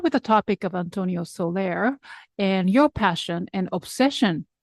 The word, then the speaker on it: Soler: are deeply passionate about the music of Antonio Solair am I pronouncing okay absolutely right so for listeners who